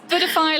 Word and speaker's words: Budify: It's Budify like Buddha. Yes, Budify Buddha. Yeah, like Buddha. It's spelled like Buddha.